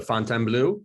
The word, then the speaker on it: Fontainebleau: I'm the Vice President of Marketing here at the, as you say it, the Fontainebleau, which I love it. That is actually the original way to pronounce it.